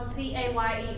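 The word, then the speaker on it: Cayer: my last name is spelled c a y e r but it is pronounced Caye like yippy Caye and just love Goodwill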